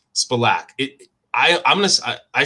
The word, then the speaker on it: Spilak: the full name yeah my name is simone spilak that's the correct pronunciation but it's hard really to say it